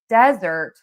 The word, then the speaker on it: desert: And then we have desert and that is sand. And that has one syllable. And so that is going to be stressed on syllable number one.